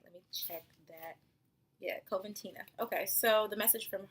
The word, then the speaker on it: Coventina: I want to make sure I'm pronouncing the name right. Let me check that. Yeah, Coventina.